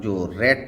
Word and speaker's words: czar: और जब ये जेड से पहले आता है, जैसे कि CZAR जार, जार आपका एक पद हुआ करता है रशिया में, उसके लिए जार बोला जाता था।